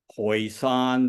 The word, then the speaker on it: Hoisan: He was born sometime in the mid 1890s in Hoisan. That's the county which I use the pronunciation in the dialect, but it's otherwise known